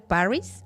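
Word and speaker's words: Parris: cuando llega a este pueblo el reverendo Samuel Paris así se pronuncia eh Él llega con toda su familia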